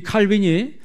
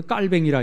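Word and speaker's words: Calvin: 이 칼빈이 스트라스부르크에서 약 500명의 피난민들을 데리고 목회를 했습니다. 그 피난민이라고 하는 것은 프랑스 사람이었기 때문에, 이 칼빈이 프랑스 사람 아니에요? 원래 이름은 이제 프랑스 말로 깔뱅이라 이렇게 이야기합니다.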